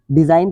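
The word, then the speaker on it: design: silent राहत है देखिए एन से पहले जी हो उसके बाद में नया हो तो यह जी साइलेंट रहेगा डिजाइन पढ़ेंगे इसको इस तरह शासन करना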